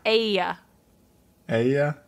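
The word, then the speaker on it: Aeaea: they're repeated several times spelled a e a ea how do you pronounce that pronounced uh Aya Aya a yeah so that's that's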